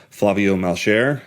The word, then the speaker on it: Flavio Malcher: for the Hernier Gods podcast by the esteemed Flavio Malchair. I think I pronounced that correctly.